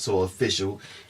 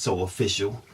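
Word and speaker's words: SO AW FA SU: soap which is pronounced so official it's the first two letters every word socially awkward s Oh aww FASS you pronounced so official and this is essentially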